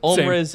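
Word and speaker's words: Ulmriz: I just write things out phonetically. Omriz is U-L-M-R-I-Z.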